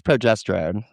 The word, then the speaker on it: progesterone: How do you pronounce it? Honey, it's progesterone.